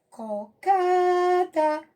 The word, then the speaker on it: cocada: Outra, cocada, cocada. Então, K é a nossa sílaba tônica.